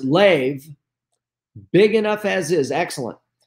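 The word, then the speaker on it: לב: And it says, A, the word heart in the Bible from the Hebrew, and it says L-E-B, which we pronounce lev, big enough as is, excellent.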